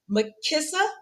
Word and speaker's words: Makissa: So, Makissa rhymes with Melissa.